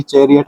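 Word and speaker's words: chariot: चैरियट में आपको याद रखने वाली बात है। इसमें का का साउंड आपको देखने को नहीं भले मिलेगा।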